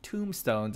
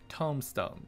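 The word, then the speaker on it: Tomestone: hard time pronouncing this it's not tombstones it's tombstones this is something you do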